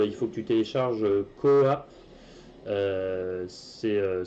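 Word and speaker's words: QooApp: Il faut que tu télécharges Coop. Ça s'écrit Q 2 O et puis APP.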